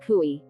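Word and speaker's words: chui: associated with the lungs kui pronounced like chewy with a forceful exhale which is associated with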